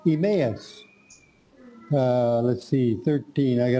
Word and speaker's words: Emmaus: Emmaus.